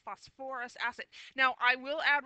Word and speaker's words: phosphorous: acid it's not pronounced phosphorus like the element it the emphasis is on a different syllable it's actually pronounced phosphorous acid now I will